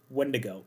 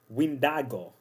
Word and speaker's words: Wendigo: Heck, even the original name, yeah, it is not pronounced Wendigo. It was derived of a similar word from the Anishinaabe people, that they pronounce it as Windago, which means solely for